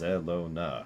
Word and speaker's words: Zelona: And it's like, it's just Zelona. It's literally how it's spelled.